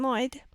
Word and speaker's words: Lloyd: That's right, me, Erin Lloyd. One of the L's is silent, if you haven't noticed that.